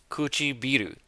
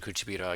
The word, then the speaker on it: 唇: Kuchibiru, lips. 唇 Good. I almost made the exact same mistake. I almost said Kuchibira again.